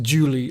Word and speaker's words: July: And yes, it’s pronounced ‘July’ like ‘truly’, as you’ll discover the moment you try to actually sing it.